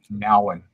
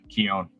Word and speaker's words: Keown: He pronounces it Nowen. What? Not Keown. It's Nowen. Oh, really? Yeah. Did not know that. Yeah, it blew my mind. It's Korean. It's Nowen. It's weird.